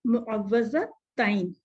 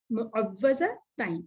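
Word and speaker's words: المعوذتين: तो इससे आप नाम याद रखेंगे, इसका प्रोनाउंसिएशन आप लोग बोलें, इस वक्त भी बोलें मेरे साथ, मुअव्वज़ताइन, मुअव्वज़ताइन, इसको इस तरह कहेंगे।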